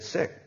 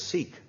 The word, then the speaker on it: Sikh: be really sensitive because I looked in my Wikipedia about how he is pronounced the word sik 86 right sexy and it said sick so I thought okay I'm going to because everybody says seek so I'm going to